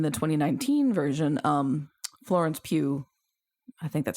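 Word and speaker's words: Pugh: commented that in the 2019 version um Florence Pew I think that's how you say it from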